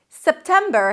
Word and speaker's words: September: September has three syllables.